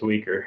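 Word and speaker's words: Uyghur: thought it was i don't remember how to pronounce it oh sorry it's weaker oh okay yeah yeah yeah i don't know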